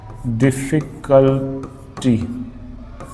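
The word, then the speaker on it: difficulty: डिफिकल्टी डिफिकल्टी डिफिकल्टी यहां पे stress है द पे डिफिकल्टी father father a द और कभी-कभी आपको इस तरह से भी देखने को मिल जाएगा।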